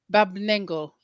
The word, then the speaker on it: Barb Nangle: relationship coach and here I am with Bob Bob lengo I hope I'm pronouncing it right you are yeah and we